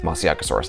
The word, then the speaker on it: Masiakasaurus: eating dinosaur from Madagascar I've heard a pronounceable from Chico Soares and more phonetically like moussaka source I just think mushy kousouris sounds cooler we do actually know